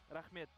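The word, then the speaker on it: Рахмет: Rahmet. Rahmed. Rahmet.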